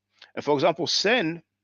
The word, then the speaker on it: sen: And for example, sen, that the Coptics call or pronounce son, S-O-N, sen means brother.